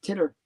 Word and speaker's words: Titter: It's pronounced Titter. Without a W, right? No, it's not Twitter. It's Titter.